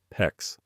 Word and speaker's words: PEX: In this video, I'm going to walk you through the complete process of installing a new shower valve using PEX, PEX, rhymes with flex.